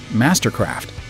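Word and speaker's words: MSTRKRFT: But just like Tumblr, Flickr, and the rest of the vowel-challenged bunch, their name is pronounced like a normal word. It's just Mastercraft.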